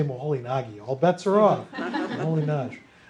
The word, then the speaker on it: Moholy-Nagy: To pronounce, so if you say Moholy-Nagy, all bets are off.